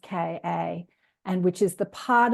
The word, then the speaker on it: Ka: used to call the soul the car body, pronounced Ka, and which is the part of us that incarnates into other physical experiences.